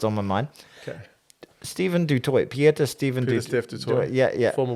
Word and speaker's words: Du Toit: Her name is Du Toit, and I was like, Du Toit, it's bit of Steph Du Toit, and she's like, no, it's not Dutch, it's actually French. It's meant to be pronounced Du Toit.